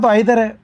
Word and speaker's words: either: आप यह मान सकते हैं कि "either" को ब्रिटिश लोग "eye-ther" और अमेरिकी लोग "ee-ther" कहते हैं।